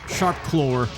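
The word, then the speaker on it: SharpClaw: They say Sharp Claw. They add an R in there somewhere. I never knew the letter W to be pronounced with an R sound, but apparently you can.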